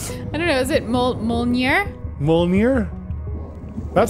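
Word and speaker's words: Mjölnir: mjolnir umir my myelnir mjolnir yes the J makes a y sound okay that's what I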